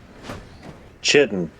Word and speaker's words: chitin: You see, the British English pronunciation for that is chitin. Because it comes from because I believe it does come from a Greek word where it's like a K sound.